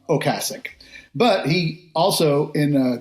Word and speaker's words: Ocasek: Is it Ocasek or Ocasek? Well, I think both are acceptable, or at least I'd like to think so, because I say both. But given that his name was Ocasek, and I think that's how you would have